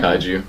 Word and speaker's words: Kaiju: Was it Kaiju? It's Kaiju.